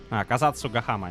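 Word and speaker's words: Kazatsugama: That's a quite a long uh lengthy name. Kazatu Gama. Yeah, that's uh the right way to say it.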